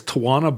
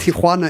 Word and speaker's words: Tijuana: what you're talking about Tiana is the correct pronunciation but that's not what you said you said toana I'm dumbing it down